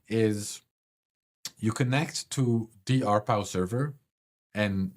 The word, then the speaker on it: RPOW: So he proposes RPow, RPow, pronounced RPow.